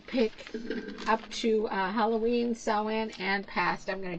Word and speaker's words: Samhain: for uh Halloween she's pretty cool and um sewing sewing Traditions is spelled s-a-m-h-a-i-n but it's pronounced sewin and um